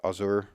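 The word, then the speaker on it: Ausar: How do you pronounce that? Azur, yeah.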